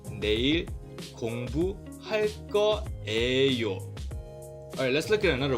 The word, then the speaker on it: 거예요: I don't know why we do this, but we instead say 할 거예요. So I know this says 예, but then we just pronounce it like 에.